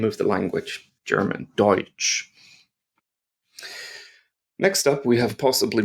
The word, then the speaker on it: Deutsch: EU, or EU in German, is pronounced oi. Oi, like oi mate, come over here. Oi. And the word Deutsch has that word in it.